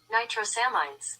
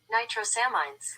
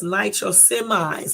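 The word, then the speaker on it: nitrosamines: no no no no pronounce it Nitro semis okay so let me see that again because man Nitro salmines so it's Nitro semis I was almost right Nitro semis that's the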